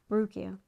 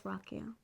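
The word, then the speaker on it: Ruocco: I've watched interviews and I know you would think it's how would you pronounce that rukio rukio okay rukio but it's Rocko CU you would know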